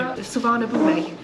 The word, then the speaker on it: Suvarnabhumi: Suvarnabhumi.